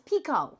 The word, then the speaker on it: Picoult: Picoult. Oh, no, it's Pico.